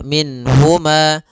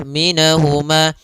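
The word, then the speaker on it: مِنْهُمَا: Nun di sini harus jelas karena bertemu dengan huruf ha. Maka tidak boleh ditahan. Misalnya ditambah dengan gunah minhuma. Ah, ini enggak boleh. Atau ditahan suaranya minh enggak boleh juga. Maka langsung saja minhuma. Dan dia tidak boleh mantulnya, tidak boleh minahuma. Minahuma ini juga sama tapi dia sempurnakan makhraj daripada nun minhuma.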